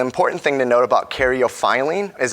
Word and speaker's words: caryophyllene: And actually my absolute favorite one, caryophyllene, which for the longest time I butchered her name and called her beta-caryophyllene, but it's phylline. You gotta get the phi out.